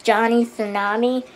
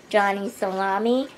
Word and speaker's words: Johnny Tsunami: Now, number 5 is a movie I used to not know how to pronounce. It's Johnny Tsunami. I used to say Johnny Salami.